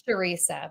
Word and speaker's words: Charissa: I'm doing really well how are you it's chissa right it's sharesa but Teresa I have people who worked with